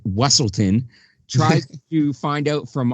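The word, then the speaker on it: Weselton: and during the ball the Duke of weaselton or as he pronounces it wesselton tries to find out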